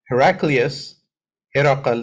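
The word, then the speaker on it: هرقل: He's saying Abu Sufyan ibn Harb informed him that Heraqal, that's how you say it in Arabic, arsalayhi fi rakbin min Quraysh.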